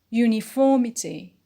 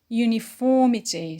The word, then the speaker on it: uniformity: is on you uniform the derived noun is uniformity uniformity so the stress is on four four on the anti-peanut next word real real